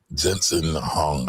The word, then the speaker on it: Jensen Huang: Now, before we get going, that guy that she is talking about is the CEO of NVIDIA, Jensen Huang. I might be saying his name wrong.